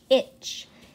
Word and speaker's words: itch: Itch. La terminación o la combinación, mejor dicho, de T, C, H se pronuncia como la combinación CH. La T es más o menos una letra muda en estos contextos.